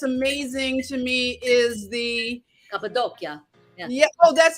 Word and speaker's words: Cappadocia: Now, this is something that's amazing to me is the Cappadocia.